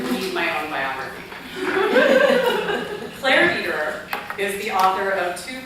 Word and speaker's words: Dederer: I'm Claire Dederer, is how you say my last name, and I so appreciate